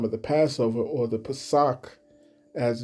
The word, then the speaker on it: Pesach: All right, I wanted to inform her that the time of the Passover, or the Pesach, as it's pronounced in the Hebrew, that this high holy day will be coming up on the 1st of April.